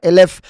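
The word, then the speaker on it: אלף: Esto debido a que en hebreo mil, Eilef, se escribe igual que el nombre de la letra Aleph, pero se pronuncia Elef.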